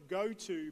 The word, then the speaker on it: GoTo: a new company called spelt go to but pronounced goto goto ipad in ipad